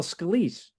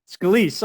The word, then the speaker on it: Scalise: And today I have the honor of speaking with Scalise. It's Scalise, or how do you say I'm sorry, I should have Scalise, asked that. Scalise, Scalise. Okay, I got it right.